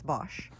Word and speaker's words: Bosc: a Bosch pear tree I've always pronounced it Bosque but apparently it's Bosch then we have a